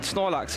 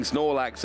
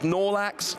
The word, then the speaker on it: Snorlax: has realized how amazing Snorlax is he he's not great with the pronunciation it's nolax but in our house